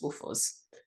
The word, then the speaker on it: WFOZ: pronounced a bit differently it's pronounced in the Zimbabwean way which is Woos so the second of